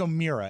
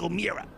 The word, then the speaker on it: O'Meara: He says O'Meara, and that's part of the problem there. Well, don't get me started on that. You know, it's Mayor, Chair, Bear. It's not Mere. Thank you. Mike O'Meara.